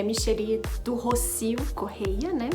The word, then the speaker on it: Michelly: Muitas pessoas me chamam de Michele mesmo, mas eu prefiro que me chamem de Micheli, né? Eu acabei aprendendo essa pronúncia com um professor na faculdade, eu gostei e acabo usando.